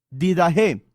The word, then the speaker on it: didaché: internet la vida je se escribe didaché con ch porque es griego didajé es un escrito que